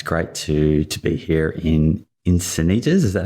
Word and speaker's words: Encinitas: this happen it's great to be here in Encinitas is that how you pronounce it that's it North County San Diego